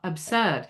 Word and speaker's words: absurd: Absurd. And the often, most of the time, um, I hear, uh, Brits pronounce that S as an unvoiced S instead of a Z sound.